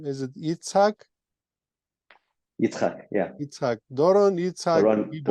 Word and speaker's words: Doron: I'm afraid to pronounce the the second name. Is it? Yeah. Doran.